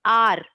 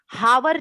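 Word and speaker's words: hour: है ये कॉन्सोनेंट है, लेकिन बच्चों इसका प्रोनाउंसिएशन हम आ करते हैं, आर, हावर नहीं करते, आर करते हैं, क्योंकि इसका प्रोनाउंसिएशन आ जैसा है, जो कि वॉवेल है, स्वर है, इसलिए हम यहाँ पे एन लगाए, एन आर।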